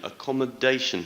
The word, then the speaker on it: accommodation: were having problems with first word accommodation accommodation stress is on the fourth syllable sincere sincere stresses on